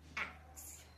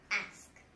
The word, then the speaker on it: ask: So some people may pronounce it ax, but it's not ax. You have to pronounce the sk sound, the sk sk sound. So it's ask, not ax.